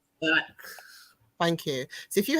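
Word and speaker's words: Lacks: Is it Lax or Hax? Lax.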